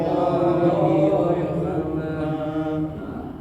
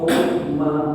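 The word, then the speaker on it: حكما: Wa man ahsanu minallahi hukma. Nah, ini kalau dibaca sampai situ wakof hukma, bacanya hukma. Nah, hukma tanwinnya dibaca hukma, jangan hukman ya, karena di wakof.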